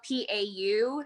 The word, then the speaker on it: Pau: it so so it's spelled p-a-u it's the first three letters of my name and then it's pronounced like pau finder okay are you